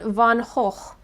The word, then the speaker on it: van Gogh: The "Night Watch", and a self-portrait of Vincent van Gogh, which is the proper pronunciation of van Gogh.